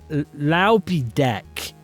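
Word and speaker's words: Loupedeck: It's an all-in-one keypad for streaming and content creation powered by a bunch of Pac-Mans that I'm told is pronounced Laupidek.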